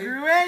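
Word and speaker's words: Gruet: Gruyere, you did it, yeah.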